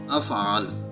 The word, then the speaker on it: افعال: अफ़आल ज़बर है अलिफ के ऊपर। अफ़आल अफ़आल अफ़आल।